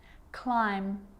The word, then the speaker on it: climb: with the letter b it's always silent when it follows the letter m climb crumb lamb thumb